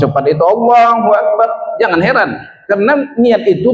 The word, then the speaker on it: Allahu Akbar: Jangan macam berkumur-kumur membacanya. Allahu Akbar. Ah tak ada hurufnya. Jadi satu-satu hurufnya itu harus Allahu Akbar.